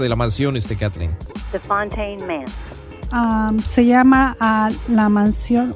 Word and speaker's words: Fontaine Manse: ¿Cómo se pronuncia bien el nombre de la casa, de la mansión, Kathleen? The Fontaine Manse.